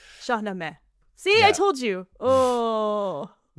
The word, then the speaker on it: Shahnameh: Shamina, right? Yeah. Shahame. Shaame.